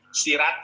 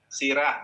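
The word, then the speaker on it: سيرة: Sirah bukan sirat.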